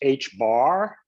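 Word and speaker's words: ħ: It's pronounced H bar.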